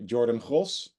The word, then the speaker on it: Jordann Gross: in Dutch and uh Jordan cross that's how you pronounce my name in Dutch but no no offense